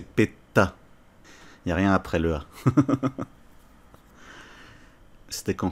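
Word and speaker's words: PETA: pour l'association péta ptr où il faut bien le prononcer parce que là je parle de miss france donc c'est péta rien après la c'était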